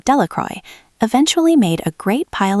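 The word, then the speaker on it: Delacroix: Bobby and Harry Jones and Dicky Delcro, the villagers pronounced this name Delroy, eventually made a great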